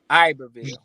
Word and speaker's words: Iberville: Parish school abille got gotta pronounce it correctly Iberville say French it's Iber one of the highest